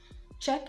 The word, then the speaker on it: Czech: absolutely silent in scenario the letter c is also silent when it comes before the letter z and words like check how else would you have been able to pronounce a word like this except you omit the c or you totally give it an entirely new sound like it is here given the sound check czech is a country